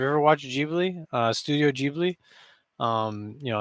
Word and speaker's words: Ghibli: the expert over here is it studio ghibli or jubilee there you go that is how it's said in japan studio ghibli forgive me any japanese